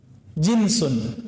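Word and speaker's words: جنس: Jinsun, jins. Pakai jeans nggak Pak? Itu beda lagi ya. Jeans itu bacanya ya. Kalau ini jinsun, jim nun sin.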